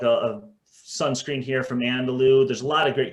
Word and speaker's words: Andalou: Can you what was that Landaloo? I know Jesse's talked about this. Can you spell that for people, because that's Andalou?